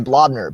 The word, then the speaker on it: Blobner: So I always say Blobner, B-L-O-B as in blob.